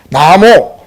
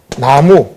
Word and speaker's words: 나모: 나모, 이거는 이제 나무, 한문으로는 이제 나모를 나무로 썼죠. 그 발음은 나모가 됩니다.